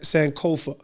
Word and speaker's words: Sankofa: do you say your last name sanova s sanova so but you're from UK Ukraine you know